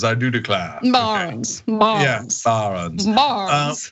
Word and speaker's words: Barron's: Yeah, first of all, you have to pronounce barons as barons. I do declare. Barons, okay.